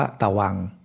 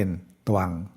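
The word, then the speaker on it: ตฺวํ: หลัก การ เดียว กัน นิก หิต ก็ ออก เสียง เป็น สระ อัง แล้ว ต เต่า ไม่ มี อะไร ก็ ออก เสียง ครึ่ง เดียว เพราะ ฉะนั้น จะ ไม่ อ่าน ว่า ตะวัง ก็ จะ อ่าน เป็น ตวัง ตวัง ตัว นี้ ก็ เช่น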